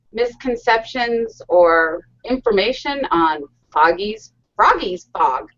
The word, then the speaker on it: Froggy: or information on foggy Froggy's fog why do I keep wanting to call it foggy you pronounce the company's name right geez Froggies B froggy that's right how are you doing